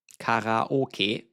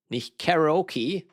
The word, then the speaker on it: karaoke: Karaoke, not "karaoki," as the Americans say it with their accent. Karaoke is Japanese, and there it's karaoke.